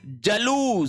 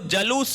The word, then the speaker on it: जुलूस: है फिर है आपके जलूस स देखो जलूस नहीं होता है। जुलूस होता है। वेरी वेरी इंपॉर्टेंट शब्द है। देखो जु लूस उ की मात्रा दीर्घ होगी।